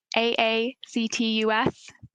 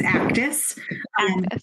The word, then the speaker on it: AACTUS: going to mispronounce it is it the acronym aactus you know it best it's actus yeah so access is the